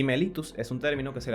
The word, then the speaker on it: mellitus: además la rae subiera nombrarla como mellitus y no mellitus como se escribe ya que este vocablo proviene del latín y la doble l en latín se pronuncia como una sola l en qué consiste la